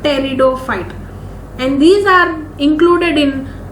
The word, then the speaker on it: pteridophyte: Whereas this kingdom Plantae includes algae, bryophyte, pteridophyte, gymnosperm and angiosperm. So here you will pronounce it like pteridophyte, P silent, pteridophyte.